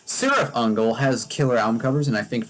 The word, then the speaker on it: Cirith Ungol: don't know, again, it's because Cirith Ungol, not Cirith Ungol, that's how you pronounce it in the Tolkien universe. Cirith Ungol has killer album covers,